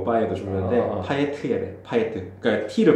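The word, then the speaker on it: Payet: 이런 것처럼 파에도 그런 논리로 파예가 돼야 되는데. 파예. 얘는 파예지야. 파예트. 왜냐면 얘는 아까 얘기했듯이 아까 얘기했는 그 프랑스가 아주 오래전부터 갖고 있었던 성 출신인데 그 지역에서는 마지막에 모음이 있을 뭐 자음이 있으면 발음을 한대.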